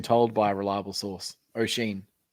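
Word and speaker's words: Oisín: Yeah, O'Sheen is how it's pronounced. I've been told by a reliable source. O'Sheen. Right. Like as in Mr. Sheen, but O'Sheen.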